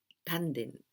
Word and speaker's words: tanden: don't have only we have so that the pronunciation is tan then without closing your your mouth your mouth Tandon Tandon then tan there are three meanings of